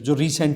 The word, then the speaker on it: tsar: गया था, ठीक है, TSAR जार, ठीक है, इसको टी को साइलेंट कर लेना आप।